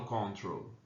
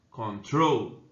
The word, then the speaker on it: control: Eu não falo control, tá? Control, né? A sílaba forte é a última, tá certo?